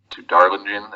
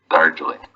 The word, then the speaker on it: Darjeeling: Well, she was on the train to Darlingen. Is that how you pronounce Darjeeling. it? Darjeeling.